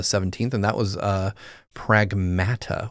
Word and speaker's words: Pragmata: and that was uh Pragmata which breaks my brain to say it that way but that's how they say it.